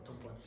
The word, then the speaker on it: tampon: call it tampon or tampon. Anyway, this particular word I'm talking about is pronounced tampon in French, and it means a stamp.